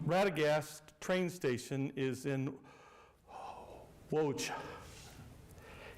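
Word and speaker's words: Łódź: Um, Ratagast train station is in Wo. It's spelled L O DZ, but it's pronounced Wo.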